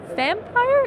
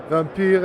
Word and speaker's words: Vampyr: the art director for Vampyr. Is that how you pronounce it? Well, actually, the original pronunciation is quite complicated. It's something between Vampyr and Vampyr, so Vampyr is quite good.